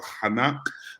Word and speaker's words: Chanak: My name is Chanak. The C is silent.